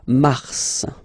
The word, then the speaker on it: mars: So, in a way it's an exception because normally final S is not pronounced in French. Okay. We've got some exceptions and this one is one of them. So Mars pronounce the final S.